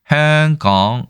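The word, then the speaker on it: 香港: 어디선가 분명히 어떤 중국 그 현지인의 말을 듣고 저 홍콩이라고 했을 텐데 이것은 이 홍콩에 대한 광동어를 들어보면 알 수 있습니다. 저도 뭐 광동어를 잘 모르지만 네. 행강 이렇게 행강이라고 발음을 하더라고요.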